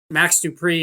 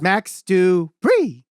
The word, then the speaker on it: Max Dupree: could be fun um max dupree is probably doing that similar thing right now maybe similar to that in wwe you're saying it wrong you're saying it wrong it's max du bree max do free you